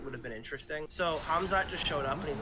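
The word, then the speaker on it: Khamzat: supposed to be fighting KMOD hamzad I guess is how you pronounce his name no hamzat shamaya he was supposed to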